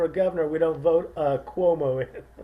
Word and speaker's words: Cuomo: governor we don't vote Cuomo although rhymes with homo did you know that